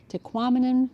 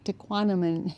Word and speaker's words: Tahquamenon: um just a hint Tahquamenon rhymes with phenomenon. It might help and remember how to say the word Tahquamenon Tahquamenon Tahquamenon.